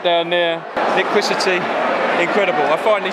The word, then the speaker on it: Liquicity: our family from the Maldives right there near kwisa tea incredible I finally said it right took me